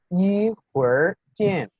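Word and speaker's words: 一会儿见: En los videos se mencionaba que la R en chino es un sonido en realidad híbrido, ¿sí? No se parece a como decimos nosotros R en español.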